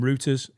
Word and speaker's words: Reuters: Not rooters as in like fucking rooting a woman with your No, cock. Reuters. Yeah. Yeah. It's Reuters.